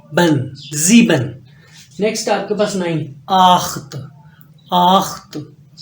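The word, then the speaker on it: neun: जीबन नेक्स्ट आपके पास नाइन आखत आखत नाइन नोइन नोइन य नोया नहीं है मंगोल कमांडर नहीं है नोइन नेक्स्ट आपके पास न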